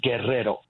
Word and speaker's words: Guerrero: His name was Vicente Guerrero. The word guerrero in Spanish means warrior. Okay. Spell that for me, Roosevelt. His last name, yes. Guerrero. I'm sorry. Guerrero. Okay. Guerrero. Mm-hmm.